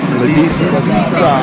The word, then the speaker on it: Ladisa: It is a woman ringmaster, and her name is Julia Ladisa. And if you don't remember it rhymes with pizza.